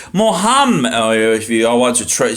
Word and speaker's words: Muhammad: Muhammad, if you all want to say it correctly, right?